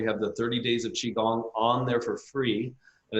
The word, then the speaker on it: Qigong: first of all U chiong is spelled qy g n g a lot of times people want to spell it um Chi which is The Logical way of spelling it don't you know but